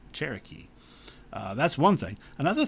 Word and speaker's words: Cherokee: the chalake which is the spanish uh spelling of chalaki which is pronounced by uh would later be pronounced by the english as english as cherokee uh that's one thing